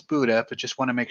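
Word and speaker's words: Buda: and someone correct me is it buddha or butter i'm not 100 sure i think it's buddha but just want to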